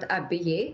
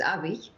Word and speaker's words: Abiy: It's not Abiy, it's Abiy.